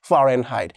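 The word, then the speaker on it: Fahrenheit: করে নিতে পারো যে ফারেনহাইট, ফারেনহাইট, কিন্তু সঠিক উচ্চারণ হচ্ছে ফারেনহাইট।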